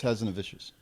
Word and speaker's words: Hazanavicius: But it is Hazanavicius. It's French. How did he pronounce the lead's name?